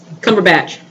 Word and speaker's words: Cumberbatch: How you pronounce his name? Last name? Cumberbatch.